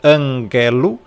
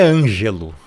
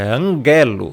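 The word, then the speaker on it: ἀγγέλου: Você pronúncia anguelo. Por quê? Porque aqui nós temos um um gama e esse gama ele não tem som de g. Então não é ângelo, tá? É anguelo.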